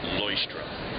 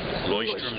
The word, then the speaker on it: Leuchtturm: The brand is pronounced Leuchtturm. Leuchtturm 1917. Leuchtturm 1917.